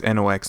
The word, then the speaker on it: Knox: be saint fire knox it's nox not fox and then of course